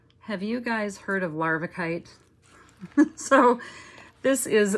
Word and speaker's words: larvikite: I've spelled it here, this is how you spell it. Larvikite. But on the tag on the on the strand, it says larvakite, like larvae.